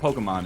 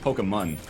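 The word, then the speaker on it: Pokémon: It's not Pokemon, it's Pokemon. Forgot about that.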